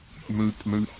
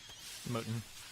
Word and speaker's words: Mouton: Moot. Oh, I pronounced it wrong. How do I pronounce it? Mootin.